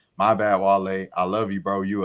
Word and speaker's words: Wale: Because basically, like, he didn't even like pronounce his name right. He said Wally. Like, come on, bro. Like, you don't know Wale like at all, But like, and it